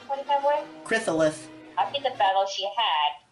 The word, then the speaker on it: Chrysalis: Did I pronounce that right, Fanboy? Chrysalis.